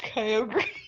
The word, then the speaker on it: Kyogre: It's actually pronounced Kyogre.